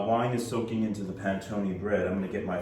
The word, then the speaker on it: panettone: It's pronounced panettone.